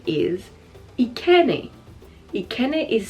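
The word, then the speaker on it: Ekene: And the next name is Ikene. Ikene is spelled E-K-E-N-E.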